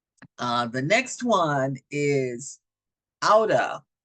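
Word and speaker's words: outta: so you really you the t's would turn into D's out of let's get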